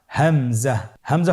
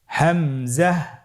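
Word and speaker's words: همزة: হামজা পরবর্তী হরফটির নাম হামজা হামজা হরফটি উচ্চারণের ক্ষেত্রেও বারিক করে উচ্চারণ করতে হবে এবং এখানে টেনে পড়া যাবে না দ্রুত পড়তে হবে আপনারা আমার সাথে বলুন হামজা জাহ হামজাহ হামজা হরফটি উচ্চারণের স্থান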